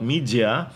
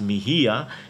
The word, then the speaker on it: Mijia: who doesn't know about media I pronounce it the Spanish way before as Mejia it is xiaomi's brand